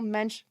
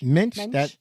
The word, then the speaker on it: mensch: before the title was, quote, was a real mensch move on his part, end quote. I don't know if I pronounced that word correctly. Mensch? Mensch?